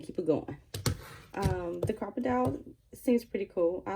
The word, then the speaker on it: Crop-A-Dile: then I have the crocodile crocodile that's how you say it um and then